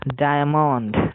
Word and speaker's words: diamond: তারপরে DIAMOND, এখানে শুরুতে কনসোনেন্ট ডি এবং আই এর পরে এম, তাই উচ্চারণ হচ্ছে ডায়মন্ড, ডায়মন্ড।